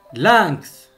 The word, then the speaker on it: lynx: Comme vous avez remarqué, le X à la fin, il se prononce dans ces mots. Texte, le texte. Lynx, lynx.